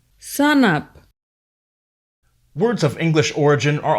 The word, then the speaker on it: sanap: For example, brother is pronounced Brata, enough, Inap, before, Bipo, shark, Sak, stand or stand up. Sanap, Words of English origin are also generally used differently than they are in English.